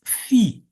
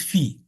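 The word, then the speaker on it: phi: function so this is fee so and this is fee in Greece this is the pronunciation of the letter Fe not F like the Americans so we have this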